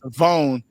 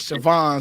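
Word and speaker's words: Shavon Revel: And it's Savon, not Savon.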